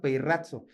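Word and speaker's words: πειράζω: La palabra de tentar es la palabra peirrazo. Yo sé que ahí se escribe peirazo, ¿no? Pero se pronuncia peirrazo.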